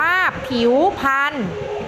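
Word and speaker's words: ผิวพรรณ: ว่า สรรพสิ่ง นะ คะ ผิว พรรณ อ่าน ว่า ผิว พรรณ เพราะ อีก วอ ผิว ไม่ ต้อง เปลี่ยน อะไร ขีด แล้ว ก็ พอ พาน ไม้ หัน อากาศ มี นัก เรียน เป็น ตัว สะกด เรา เปลี่ยน เป็น นอน หนู ให้ ตรง ตาม มาตรา ตัว สะกด นะ คะ เด็ก ๆ ลอง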